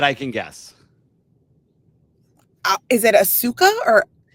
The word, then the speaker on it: Asuka: Is it Asuka or It's Asuka. And I spent easily like three years pronouncing it wrong.